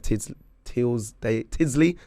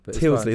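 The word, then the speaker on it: Tyldesley: And we've had pundits and commentators, Clive Tidsley, I can never say his name. It's all right, don't worry. Really bad, I should know this. It's probably Tilsley. Tilsley, there we go.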